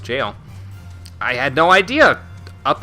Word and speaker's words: gaol: so recently I learned the jail is still pronounced jail yeah I didn't actually know that myself until